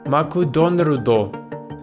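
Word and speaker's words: マクドナルド: would have been hokutan also America's favorite McDonald's took me a while to get the pronunciation down maku Don rudo for a beginner you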